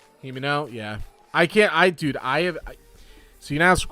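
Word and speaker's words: Himeno: I get her name wrong every time I say it. I've called her Hinami. I've called her Himiko. I've called her correctly the name. Himini. Like, that name just gets butchered nonstop.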